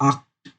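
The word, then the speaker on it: Acht: तो इधर सी एच का प्रोनाउंसिएशन ख होता है, आक्ट।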